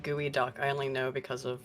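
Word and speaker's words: geoduck: it's like an evil Geo duck you're going to look elongated yeah I was like closely related I believe it's pronounced gooey duck I only know because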